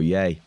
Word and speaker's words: Ye: You can pronounce it Ye or Yay.